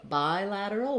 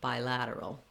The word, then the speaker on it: bilateral: Then when we change to bilateral, we have the I diphthong. Thinking about that like the word bi or bi might be helpful, and then adding your lateral, bilateral.